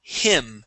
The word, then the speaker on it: him: So you're pronouncing a Spanish I, saying e, he. We want to say he.